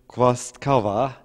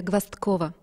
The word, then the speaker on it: Gvozdkova: Und ja, ich habe das nicht ganz richtig ausgesprochen. Denn, ja, danke schön, aber Sie dürfen es dann jetzt nochmal sagen, damit alle wissen, wie Sie wirklich heißen und ausgesprochen werden. Gwastkova. Gwastkova.